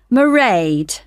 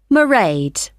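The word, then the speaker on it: Mairead: you'll see my assistant marade sorry how do you spell that it's m a i r e a d marade okay got that it's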